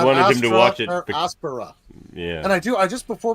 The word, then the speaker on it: aspera: And it actually is a short E, so it should be pronounced ad astra per aspera.